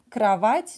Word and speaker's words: кровать: цель кровать кровать-молодец да так произносится кровать но здесь мы пишем букву о write a pronouns а кровать молодцы пойдем дальше двери similar